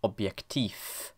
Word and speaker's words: Objektiv: When a syllable ends in a voiced obstruent, it is replaced by a voiceless one. Hence, this is pronounced rat, and this is pronounced objektiv.